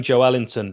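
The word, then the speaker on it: Joelinton: wondering why i'm saying joe ellington that is the correct way that anyone from brazil says joe wellington's name uh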